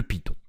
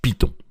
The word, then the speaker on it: Python: Alors vous noterez aussi que je dis Python et non pas Python. Les deux prononciations sont valables. Évidemment, Python, ça va être la version anglaise et Python, ça va être la version française.